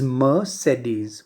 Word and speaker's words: Mercedes: the pronunciation here mercedes whenever you see a single r occurring in between and of course right after a vowel sound and in between a